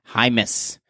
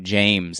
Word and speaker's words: Jaimes: let us know that his last name is pronounced Jaimes, not James.